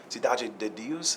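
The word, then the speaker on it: Cidade de Deus: directed city of God or sidu Sidi Deus is how you say it I met him at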